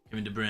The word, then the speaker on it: Kevin De Bruyne: But I'm never gonna say Kevin De Bruyne. Kevin De Bruyne. That's apparently how you're supposed to pronounce it.